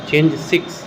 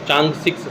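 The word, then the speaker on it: Chang'e: लिए लॉन्च किया था चेंज 6, इसको चांग 6 सही प्रोनाउंसिएशन है।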